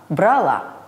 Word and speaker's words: брала: вам не составит труда запомню что в глаголах прошедшего времени формах женского рода ударение падает на конечное а то есть правильно началом поняла взяла брала форме мужского и среднего